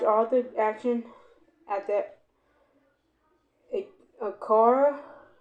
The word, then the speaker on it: Acura: Enables you to watch all the action at the Acura, A-C-U-R-A. How you say that, Dave? Acura? Acura, Spell it again?